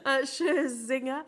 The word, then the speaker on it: Scherzinger: Scherzinger.